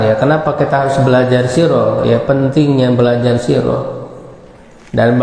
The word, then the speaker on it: Sirah: Ya, ini ditulisnya sirah ya, tapi dibacanya sirah ya. Ya, dibacanya sirah di dalam bahasa Arab.